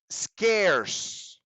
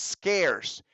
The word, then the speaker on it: scarce: last word for today scarce be careful with pronunciation this pronunciation tricks a few students scares scares this first C